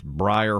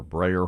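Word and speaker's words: Breyer: they were then and i don't think i pronounced it correctly it's briar horses or brayer horses b-r-e-y-e-r horses and i don't know what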